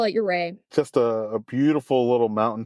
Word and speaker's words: Ouray: It's called Ouray. Is that how you pronounce it? Some people call it Ouray. A lot of people call it Ouray.